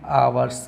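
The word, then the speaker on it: hours: अब देखो इस क्वेश्चन का जो आंसर देखेंगे, यहाँ पे क्या लिखा है आपका, इसको पढ़ेंगे आवर्स पढ़ेंगे, ठीक है, आप लोग डरते हैं, आवर्स पढ़ेंगे, एच साइलेंट रहेगा, तो यहाँ पे आ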